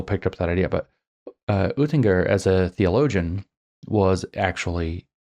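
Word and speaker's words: Oetinger: mispronounce his last name, Oettinger. I try to say it in German, but it's Oettinger. Friedrich Oettinger was one of his key predecessors to Hegel.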